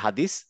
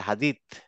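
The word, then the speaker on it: حديث: যদি বলি না হাদিস আমরা বলি হাদিস আসলে হাদিস না এটা হাদিত হ্যাঁ দেখবা এখন অনেক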